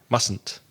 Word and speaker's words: mustn't: to get that negative it's kind of an extra syllable in there but it said very quickly mustn't so if Sally hasn't